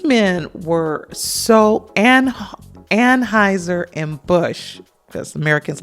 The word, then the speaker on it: Busch: these men, particularly Busch, which I have to say Busch, because that's the way you say it. So excuse me if you hear me say it like that. It's not Bush. Look at the spelling. It's Busch.